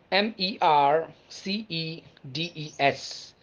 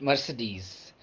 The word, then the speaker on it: Mercedes: car since my childhood m e r c e d e s not mercedes the pronunciation is very stylish as the car itself mercedes mercedes mercedes now we have south